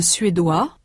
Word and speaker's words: suédois: In sound, the feminine forms anglaise and suédoise have a final consonant z that the masculine anglais and suédois do not. In the masculine, the final s is not pronounced. In the feminine, it represents the sound z.